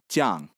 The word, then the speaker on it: Jiang: So the name Chiang Kai-shek is actually, how to describe this? This is actually Cantonese. That's a southern Chinese dialect. Nowadays, most of us that study Chinese, we study Mandarin Chinese, and we would pronounce his name Jiang.